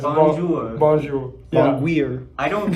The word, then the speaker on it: Bonjour: Jewer? I think you said it wrong. Yeah, it's Bonjour.